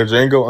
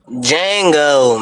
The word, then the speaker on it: Django: Jango, man. Did you see when he when he popped home boy and said the D is silent?